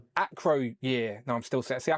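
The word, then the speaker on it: Acroyear: Micronaut issue one acro year no I'm still see I can't ac my brain when I look at the As soon as I look at his name, I just want to say year because I see the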